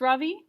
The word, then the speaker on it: Ravi: his hand up yes ravi says mrs beam i noticed she says his name right for the first time with the accent on the second syllable could you please tell